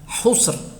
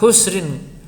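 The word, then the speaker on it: خُسْر: Membacanya husr, ya. Tidak boleh husrin.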